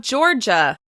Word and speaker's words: Georgia: As you can hear, Florida is also stressed on the first syllable. Florida. Florida. Florida. Now we have Georgia.